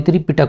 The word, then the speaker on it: त्रिपिटक: अब चलिए, सॉरी त्रिपिटक होगा यहाँ पर सही प्रोनाउंसिएशन।